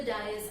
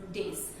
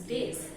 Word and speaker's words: dais: But it's not dais. As you can see the spelling, it is D-A-I-S. So the pronunciation of this word is days. I repeat, the correct pronunciation of this word is days, not dais.